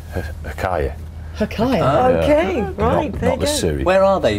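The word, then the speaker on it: Huacaya: aren't they yeah but I think you pronounce it hakaya hakaya okay where are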